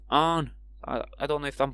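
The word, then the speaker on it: Aang: I have spelled it with A H N, but like Arn. I don't know if I'm put getting that across right with my accent, but Arn like Arn. Arn Arn like that's how they pronounce it, but that's like the start of the word Anunnaki.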